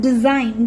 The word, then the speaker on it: design: Okay, next design, design में किसकी sound नहीं आ रही है? G की, so therefore circle G.